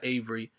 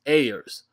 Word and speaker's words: Ayers: And let me say, man, I pronounced his name wrong the last time. It's not Avery. It's Ayers.